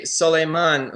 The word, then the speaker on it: Solimon: It's actually Solimon, who is not.